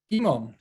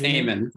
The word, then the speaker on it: Eamon: And next we have Imon. Imon, there you are. Am I pronouncing this correctly? Or? It's Eamon, close enough.